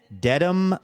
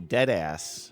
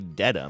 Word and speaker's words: Dedham: One of those Massachusetts places that I'm always wondering if I'm saying it correctly, but I think I did all right? Dedham? You did great. In fact, I was thinking maybe instead of saying dead ass, because you tried that once on the show